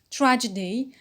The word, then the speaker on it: tragedy: Tragedy, stress, it's a noun, stress on the first syllable, tra.